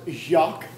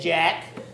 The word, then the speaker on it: Jacques: Actually, sir, it's pronounced Jacques. That's what I said, Jack.